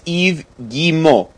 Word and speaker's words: Yves Guillemot: It's Yves Guillemot.